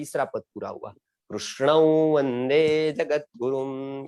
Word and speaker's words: कृष्ण: हाँ, और उच्चारण के स्थान पर जब हम संस्कृत ऐसा कहेंगे, संस्कृति, कृष्ण ऐसा जब कहेंगे, तब र और रू के बीच में जब जिह्वा ऊपर लगती है तो रू का थड़कन के साथ उच्चारण होगा, क्योंकि उसमें स्वर रू है। आप समझ गए ना? हेलो, वो क्रू नहीं है। हेलो, बहुत लोग ऐसा बताते हैं कृष्ण, तो गलत हो गया, क्योंकि क्रू उसने बताया,